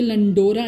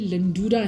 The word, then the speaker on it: لنڈورا: تو یہ لنڈورا نہیں ہے یہ لنڈورا ہے کیونکہ یہ یہاں پہ وائے معروف ہے, واو کے اوپر پیش